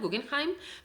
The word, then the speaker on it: Guggenheim: del museo guggenheim allí la palabra guggenheim es una palabra que tiene origen germánica no entonces estoy hablando con como si fuera la pronunciación de la palabra original guggenheim pero por supuesto si